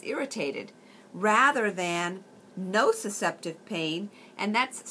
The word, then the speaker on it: nociceptive: nociceptive pain the difference between the two non no susceptive pain is a neuropathic pain that pain comes